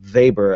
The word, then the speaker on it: Weber: Actually um and you pronounce his last name I guess uh Vber. I guess that's the proper way.